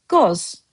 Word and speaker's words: qoz: Master Azerbaijani word of the day has for you the word goz. Goz, just one syllable.